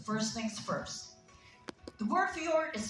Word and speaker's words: fjord: things first the word fjord is spelled like this but we pronounce it as fjor now in scandinavian languages the j is often pronounced like a y or a u and fjords they are